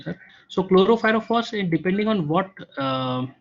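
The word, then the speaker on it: chlorpyrifos: He's asking, what is the limit of detection for chloropyrifos? Okay. I don't know if I correct. Yeah. This is absolutely right pronunciation, sir. So chloropyrifos, depending on what say system you are using.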